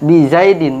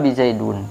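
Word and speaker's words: بِزَيْدٍ: nya jin Nah ini Din di kasrohkan bacanya bizaidin bukan di Zaidan bukan pula bizaidun Tapi bacanya bisa jadi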